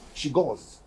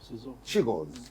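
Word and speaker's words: Czolgosz: it's it's a mouthful c z o l g o s z h she goes she go that is his pronunciation she go now ladies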